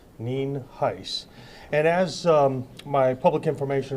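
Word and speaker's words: Nienhuis: Sheriff neenheis is spelled n-i-e-n-h-u-i-s and it's pronounced Neen heis and as my public information officer uh alluded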